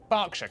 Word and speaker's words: Berkshire: silent norwich beric southwark er is pronounced r berkshire clark and will hertfordshire but before you get